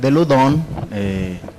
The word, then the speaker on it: Loudun: Pero esto, digamos, inicia en 1617, que es cuando en esta provincia de Ludón, que así es como se pronuncia.